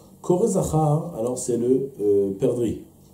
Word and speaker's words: perdrix: Kore Zahar, alors c'est le perdrix. Perdrix, on ne dit pas le X, quoi.